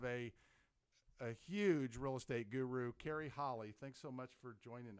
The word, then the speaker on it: Carrie Holle: And today we are extremely excited to have a huge real estate guru, Carrie Holle. Thanks so much for joining us. Thank you. Thanks for having me. Did I pronounce the name correct?